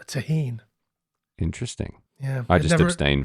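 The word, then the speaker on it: Tajín: So I think it should be pronounced Tajin.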